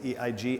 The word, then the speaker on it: Eig: I would say, I don't know if you're familiar with this new book by Jonathan, I don't know how to pronounce his name, it's E-I-G, Eig.